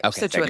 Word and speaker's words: Scituate: Scituate is correct. Yeah. Yeah. Um yeah, Scituate was an interest It was like a big